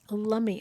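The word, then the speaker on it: Lummi: Tony Russi says it's Lummy Island, not Lumi.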